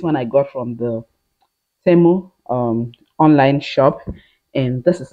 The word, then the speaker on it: Temu: Now, this is my first phone pack I got from Tume. I really hope I pronounce this thing well. Tume. Temu.